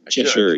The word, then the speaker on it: Cheshire: I don't know how to pronounce it. Cheshire, you got it right.